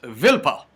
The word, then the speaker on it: Wilpot: Wilpot, and it's pronounced, it's spelled Wilpot, but it's pronounced Vilpa.